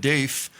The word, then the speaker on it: Deif: Security Agency shinb said Dave's Fen de daf's death was confirmed earlier on Thursday citing an intelligence assessment Dave and that's spelled deif had survived at least